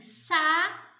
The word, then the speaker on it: saúde: Então, por exemplo, a palavra saúde, quando você divide, você tem saúde. Veja que esse A e o U, eles aparecem juntos na palavra, mas eles são pronunciados em sílabas separadas.